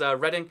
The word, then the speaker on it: Reading: But yeah, that is Reading, the town over here, which is, again, I don't know why it's not Reading.